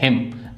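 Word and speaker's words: hymn: हिम भजन इसमें भी हमारी एन साइलेंट है।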